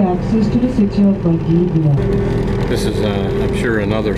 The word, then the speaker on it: Valdivia: This is Coral Bay, not Valdivia, and it's pronounced Valdivia, so the V is a W.